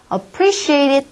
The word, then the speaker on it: appreciate: appreciate이라는 단어 역시 강세를 이음절에 찍으셔서 appreciate it 하고 발음이 날 수 있도록 연습하시고요.